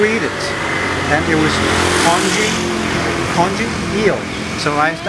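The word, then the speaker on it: congee: Oh, Konji. What's konji? In English it's spelled C-O-N-G-E-E.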